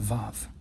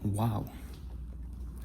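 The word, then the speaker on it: ו: In modern Hebrew, they call it Vav. But in the chosen pronunciation of Hebrew, it's called Wow. Wow.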